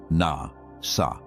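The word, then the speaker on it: נשא: In the ancient Hebrew of the scriptures, there is a small word, three letters pronounced na sa.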